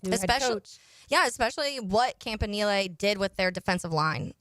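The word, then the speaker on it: Campanile: stuff and how much of a hit Anthony campanil is yeah we be fun and we have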